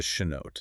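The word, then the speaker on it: chanote: You want the gold standard, which is the shenote. Shenote. Can you spell that?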